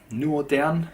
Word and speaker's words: Nuothe'an: which is right here new or down it sounds pronounced is a complete fictional